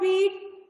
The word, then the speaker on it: wheat: in the word wheat, the letter H is silent.